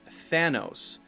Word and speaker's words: Thanos: the last movie was Thanos now one common mistake when you say thatthis name is to not say the th sound and to say instead Santos Santos with an S sound incorrect you have to be